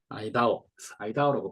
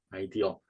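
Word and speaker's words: IDEO: 아이다오라고 발음하는 게 아이디오라고 발음하는 게 맞는 것 같은데요. 아이디오, 세계적인 디자인 컨설팅 회사예요.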